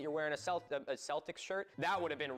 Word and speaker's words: Celtic: Here in Ireland, except for the initial soft say in sports teams names like the Celtics, Celtic with a hard C or K is the standard.